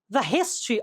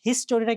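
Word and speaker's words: history: করেই আসছে খেয়াল করো হিস্ট্রি অফ ঢাকা ভি হিস্টরিটা কিন্তু উচ্চারণ করতে হিস্টরি বলবা না বলবা হিস্ট্রি হিস্ট্রি অফ ঢাকা কি আছে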